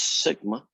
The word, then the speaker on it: sigma: pronounce as mu and this is a greek letter you pronounce it as sigma what does new tell